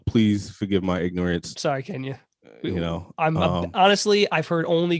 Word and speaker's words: Kenya: Kenya. You're saying like it's like quinoa or something. Kenya Barris. Kenya. If his name is pronounced like the country, it's Kenya.